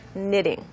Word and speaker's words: knitting: on this all right so it's just knitting that's what K is silent silent good me that